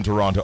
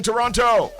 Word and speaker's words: Toronto: going to be having a big show in Toronto on the Saturday night, which is why we